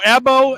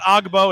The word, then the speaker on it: Agbo: going not ogbo chabuzo ebo and elbow no G we found out the g is silent it's not agbo it's and here is